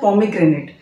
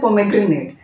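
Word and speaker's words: pomegranate: अनार को इंग्लिश में बोलते हैं पोमेग्रेनेट, इसको कुछ लोग बोलते हैं पोमेग्रेनेट, तो इसका सही प्रोनाउंसिएशन पोमाग्रेनेट, पोमाग्रेनेट।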